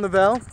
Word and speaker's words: Lovell: I called him John Lovell because, I mean, that's how it's spelled. That's how I thought his name was pronounced, but apparently it's Lovell, and I really never knew that until the other day.